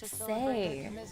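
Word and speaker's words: 四: The four is actually read as say because I do speak Cantonese and in Cantonese the number four is pronounced like say and is also a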